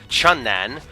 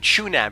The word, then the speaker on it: Chun-nan: I've been calling it Chunan, but I'm like, yes, there is a N in that first word. It should be pronounced Chun.